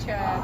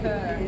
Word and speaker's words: Chur: I was saying Chur, but it's called Kerr, just FYI.